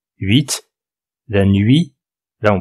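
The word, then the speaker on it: huit: ça c'est le 8 la nuit et puis 8 vous remarquez qu'on prononce le T d'habitude on prononce pas un t final en français mais là on le prononce 8 la nuit là on prononce pas le T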